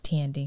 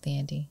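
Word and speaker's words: Thandie: um i know sure it's not fandy newton it's tandy it's not dandy are you sure i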